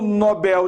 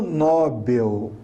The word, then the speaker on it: Nobel: dizer a o prêmio nobel de química foi dividido entre 3 cientistas não é prêmio nobel é prêmio nobel a sílaba mais forte é o bell assim como a torre